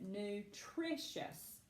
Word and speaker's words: nutritious: Nutritious. Nutritious. Where is that accent? Nutritious. Yes, ma'am. It is that final, or I'm sorry, it is that second syllable.